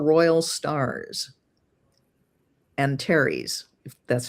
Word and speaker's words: Antares: is conjunct one of the 4 royal stars, Antares, if that's how you pronounce it. Yeah, it's Antares.